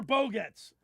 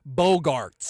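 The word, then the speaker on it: Bogaerts: XANDER BOGGETS. OH, YOU WERE SO CLOSE. NOPE. NOPE. You already said it wrong. Xander Bogarts.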